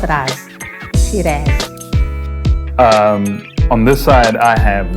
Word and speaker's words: Shiraz: People, how do you pronounce it? We actually personally know him. Shiraz. No, she does not raz. Shiraz.